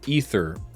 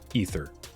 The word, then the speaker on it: Aether: at a pack of ether revolt it's spelled aether but it's pronounced ether we were told this